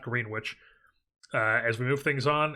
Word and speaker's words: Greenwich: 26 years old, out of Greenwich, Connecticut. I believe is how you pronounce that, not Greenwich.